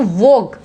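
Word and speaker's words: vogue: देखो वोग, यहाँ पे क्या बोल रहे हैं हम? वोग बोल रहे हैं, यू बिल्कुल साइलेंट है ना।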